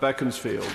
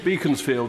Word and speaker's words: Beaconsfield: my right on Berlin the member for Bekins field or Beaconsfield as benjamin disraeli always pronounced it that we should